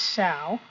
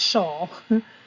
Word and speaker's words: shall: already in there and it is shall it's not shawl shawl is a solid spelled like this and it's something you throw around your body uh it might be Saul in certain regions with certain dialects but it really is shall so people say aisle